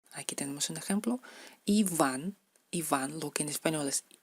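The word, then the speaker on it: Иван: Iván, lo que en español es V, en ruso sería V, la letra V, da el sonido V, labio dental, V. Iván.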